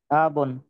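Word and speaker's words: أبٌ: কে father আরবি কে আবন আবুন মাশাল্লাহ আবন আটা টান দেয়া যাবে না আবুন উচ্চারণ কি হবে আবুন এরপরে বলেন তো যদি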